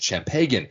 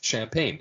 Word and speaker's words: champagne: you want some champ Pagan and he keeps pronouncing it chagan but in this episode he literally sings a